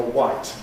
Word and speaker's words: white: This is about what still uh I had a questionnaire where I asked people which pronunciation do you prefer, white or white for the color?